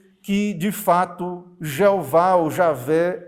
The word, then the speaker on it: Javé: Então, eh, os estudiosos modernos preferem essa pronúncia do que a tradicional Jeová segundo Hamilton.